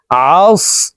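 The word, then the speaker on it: عصر: আমরা অনেকেই আস পড়ে থাকি। এই আইনকে হামজার উচ্চারণ করি। আর এ সদ হরফকে সিনের উচ্চারণ করে থাকি। প্রিয় দর্শক আমাদের সঠিকভাবে উচ্চারণ করা শিখতে হবে। আস আইন সদ জবর আস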